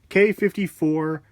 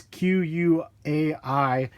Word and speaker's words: Quai: I wanted to bring you guys a video review of the K54 Air Jordan 2s, and it is pronounced K. I believe it's Q-U-A-I. A lot of people say Quai, but I believe it's K54.